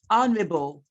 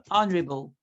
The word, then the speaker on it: honorable: air to the throne you also have honorable honorable but oh no the age is silence honor I hope that